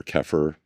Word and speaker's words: kefir: like cultured coconut or keir uh or kefir, depending how you want to pronounce it.